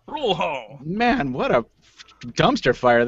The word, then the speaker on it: Rural Hall: a place spelled Rural Hall but obviously not pronounced that way because of course it's in kakalaki welcome back to you sir it's rule Hall rule Hall rule Hall man what a dumpster fire that intro was